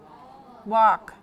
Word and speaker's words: walk: work work work yeah what about this one just one sound that's right it's this one walk walk exactly it's walk that's it that's it have you ever used this to cook you ever use that they are pron anounced exactly the same walk walk walk walk